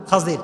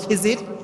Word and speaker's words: খিজির: খাদির তার নাম কি খাজির আমরা বলি খিজির তবে এটার আসল উচ্চারণ হচ্ছে খাজির উচ্চারণটা আসলে কি খাদির